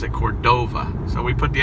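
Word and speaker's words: Córdoba: put the accent on the oak so it's Cordoba so I always wonder if in Spanish this wasn't Cordova but we pronounce it Cordova so we put the accent on the last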